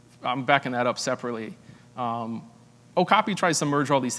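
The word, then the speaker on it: Ocopea: source product of ours called okapi pronounced okapi regardless of how you see the spelling so this is an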